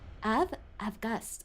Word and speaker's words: Avgust: languages they spell things differently, but you still pronounce it in a certain way, so I just assumed it was August. Avgust.